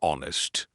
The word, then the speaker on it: honest: In the word honest, we do not say the H.